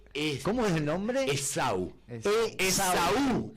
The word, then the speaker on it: Esaú: Esaú, en realidad, con un acento en la U.